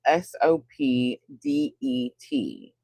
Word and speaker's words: Sopdet: It's spelled S O P D E T. Sopdet. Sounds like Sophie but with a D.